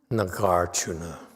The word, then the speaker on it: Nagarjuna: Nagarjuna.